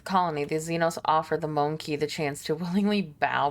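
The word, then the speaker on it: mon-keigh: humans from yeah it's it's pronounced like monkey it's monkey that's their like slur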